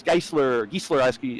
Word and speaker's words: Geisler: Thomas Geisler, actually, he says its last name is said like Chrysler. Geisler, yes.